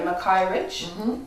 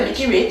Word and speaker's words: Mickey Rich: When I read her name, that's the reading, the pronunciation that came to me, Mackay Rich. Yes. But her name is Mickey. She calls herself Mickey Rich.